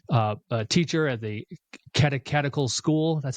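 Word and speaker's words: Catechetical: He was the uh uh teacher at the katakatical school. That's how you pronounce it there in Alexandria early on.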